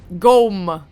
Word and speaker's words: Gom: How do you pronounce it? Gom. Like ghost.